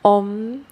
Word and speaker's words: om: we shall be practicing the chant om which is made up of the syllables a u and m i shall give you